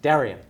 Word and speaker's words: Daryenne: It's Daryenne. Daryenne. Daryenne is how you pronounce it properly, but we're just going to go with.